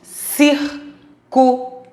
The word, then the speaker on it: círculo: e a antepenúltima ser qual é a sílaba mais forte círculo é os ir então é a antepenúltima sílaba da palavra não esqueçam começamos contar